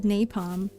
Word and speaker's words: napalm: It's pronounced napalm? Napalm? Is it, do you put the accent on the nay? Or do you put the accent on the palm? On the nay. On the, so it's like napalm.